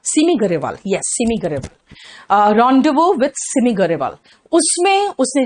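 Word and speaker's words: rendezvous: इसका प्रोनाउंसिएशन है रॉन्डिवो। रॉन्डिवो, रेंडेसवस नहीं है, रॉन्डिवो, यानी कि जेड वगैरह का तो प्रोनाउंसिएशन नहीं आ रहा है, एस का भी कोई प्रोनाउंसिएशन नहीं है ना।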